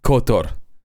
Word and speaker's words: Qatar: Uh, the only reason that I pronounced it k like that is because yes, cotto is how you pronounce it.